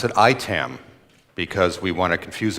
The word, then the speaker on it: IAITAM: if you're wondering how we pronounce this we pronounce it itam because we want to confuse everyone between itam